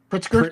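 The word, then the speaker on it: Pritzker: P R I T Z K E R Pritsker.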